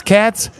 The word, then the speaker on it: Katz: His name is Katz. He wants to pronounce Cates.